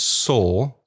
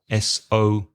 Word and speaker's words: sore: You could say that something is sore, S-O-R-E, exactly the same pronunciation as the past of to see. So sore and sore.